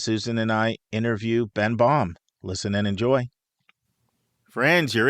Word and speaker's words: Baum: It's just been yankified in a way so that Yes. it ends up being pronounced Baum instead of the proper Baum.